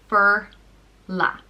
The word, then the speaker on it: Forlaith: The next name is Forlaith, and it means golden queen, and it's pronounced Forlaith.